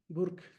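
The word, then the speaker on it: Burke: Burk, yo me imagino que se pronuncia así, Edmund Burk.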